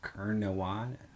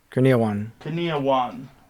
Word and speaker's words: Kurniawan: Kurnawan. Kurniawan.